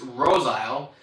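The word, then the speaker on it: Roseisle: Sugar 80 says the pronunciation of that last one is Rose Isle.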